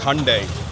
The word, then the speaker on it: Hyundai: much there it's actually you know how you say Sunday sundai that's how you pronounce it it's Hyundai Hundai H H Hyundai